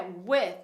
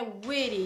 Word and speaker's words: with: E é with, não é witty, não é which. A gente fala with.